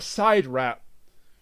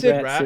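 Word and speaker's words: SIDRAT: Also, at one point, one of the two villains calls it a side rat. This is where it, yeah, but that's what, yeah. But it's Sid Rat. It's spelled Sid Rat.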